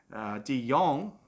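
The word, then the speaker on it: de Jong: off a little bit DeYoung look that's the boy Deon up and about I always fell his name wrong kids pronounced too young and spell DeJong terrible spa oh well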